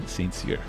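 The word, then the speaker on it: St Cyr: special guest and um her name is brianna sainzir yeah did i say that properly you did yes i know it's hard to pronounce a lot of people get it wrong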